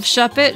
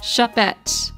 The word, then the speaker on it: Shuppet: don't really need that shed it shop it uh so sh s u p and then pet goodbye glacon my child just